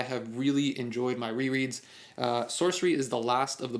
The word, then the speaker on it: Sourcery: that is Terry Pratchett's Sorcery. I'm pronouncing this sorcery because S-O-U-R-C-E is source, and that to me is sorcery. I don't know if other people pronounce it sourcery, like sour.